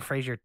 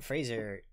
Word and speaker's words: Fraser: the river uh brandon fraser it is fraser right that's how it's supposed to be pronounced i'm not sure i always thought everybody calls it frasier and it's not correct there isn't a joke